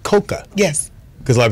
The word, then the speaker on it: Cocoa: coca Brown is in the build and it's pronounced coca yes cuz a lot of people say Coco yeah but I don't care long as that